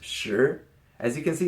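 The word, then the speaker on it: 十: more number and that is the number ten pronounced sure as you can see it's just a cross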